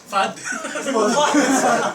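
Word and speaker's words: Fuud: you so let's Planet food but it's spelled f u u d fud okay that's the name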